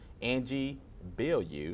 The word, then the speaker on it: Angie Bilyeu: I'm here with another exciting talent for the film The Dark Days, Angie Bilyeu. You said it right. You said it Yeah, right.